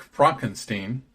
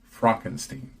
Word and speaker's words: Frankenstein: Frederick Frankenstein is a lecturing physician at an American medical school and is engaged to a socialite named Elizabeth.